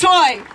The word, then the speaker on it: Tsui: and our joy my name is choi that's t-s-u-i pronounced soy and i am an